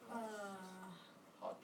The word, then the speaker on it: hat: Hot. Hot. hot. Yeah, like it's hot, temperature-wise. Okay, spelled hat, pronounced hot.